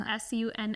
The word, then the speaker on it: Sunne: name is Sun It's s u n n e it's pronounced Sun some people have pronounced it this sunny but it's just sun and we will probably